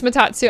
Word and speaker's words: Matatsu: I think it's Matatsu. I don't think the U in his name is silent.